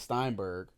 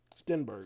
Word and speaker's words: Stenberg: with her in Amandla Steinberg. Sternberg. What? What? Sternberg. Stenberg. Steinberg. Amandla Steinberg. Stenberg. I've never heard Stein pronounced as Sten, but there's no there's no I.